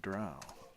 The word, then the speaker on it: drow: Like, okay, So, real quick, D&D Beyond, did you pay him to pronounce the word drow?